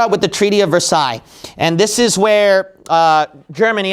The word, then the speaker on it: Versailles: I think you pronounce this Versailles, right? Treaty of Versailles, is that correct?